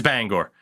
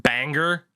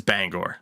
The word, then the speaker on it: Bangor: it is it is Bangor like the the meme is that it's pronounced Banger I have never heard anybody actually say Bangor Maine in my life though it is Bangor like that's it what's